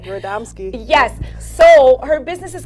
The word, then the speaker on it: Radomski: Radomski.